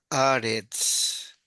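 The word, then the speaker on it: ארץ: Entonces esto es Aretz, porque la Aleph no se pronuncia.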